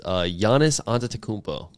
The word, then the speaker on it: Giannis Antetokounmpo: My Win of the Week, I'll go ahead and start this off, is Giannis Antetokounmpo.